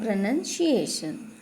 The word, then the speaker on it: pronunciation: Sometimes people call it as or read it out as pronunciation, but that is not the correct that is not the correct pronunciation. If we say pronunciation, it becomes wrong, because when we pronounce any word, the spelling of pronounce and pronunciation are different.